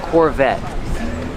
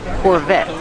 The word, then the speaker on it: Corvette: Corvette. The T is a stop T. The E is silent. Corvette. Corvette.